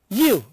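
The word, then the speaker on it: ewe: Here, see, I have written here you, E-W-E, it is pronounced as Y-O-U.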